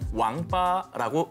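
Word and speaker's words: 王八: 중국에서는 거북이와 자라를 통칭해서 왕빠라고 읽습니다. 이것은 인간으로서 갖춰야 할 8가지 도리를 잇다라는 뜻의 망팔과 발음이 거의 흡사합니다.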